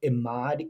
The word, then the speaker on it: Emad: So I'm going to actually make sure I don't get his name wrong. I'm like, one guy who runs Stability AI is named Emad, E-M-A-D, Mostak.